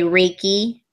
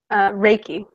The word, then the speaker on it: Reiki: So I know you're also a Reiki Master. Am I pronouncing that right? Reiki.